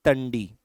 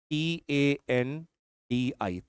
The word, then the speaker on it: Tandi: This is a point which is known as Tundi. T A N D I Ti.